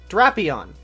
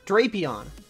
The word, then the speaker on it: Drapion: It's the short A sound. Drapion. Drapion, not Drapion. Curse my feeble 13-year-old mind back then.